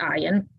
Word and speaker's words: Ian: Ian, pronounced Ian, played Steve Sanders on